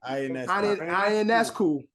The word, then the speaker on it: Ionescu: It's like Ian. Sabrina Ionescu. Ionescu.